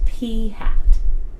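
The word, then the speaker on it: p̂: an it's a sample statistic and it's literally pronounced P hat so it's wearing a nice cheerful hat alright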